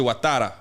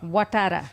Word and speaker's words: Ouattara: Just say Ouattara. Ouattara.